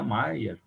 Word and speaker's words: Meyer: ele se chamava maia ele é inscrito meyer né mas até o próprio conditioned ó se escreve meias mas se pronuncia maia notas de rodapé no